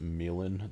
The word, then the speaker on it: Milan: My name is Milan. That's how you pronounce that name. Uh, it's a Serbian name, so I'm not from Serbia. My dad is, but um, that's how you say it.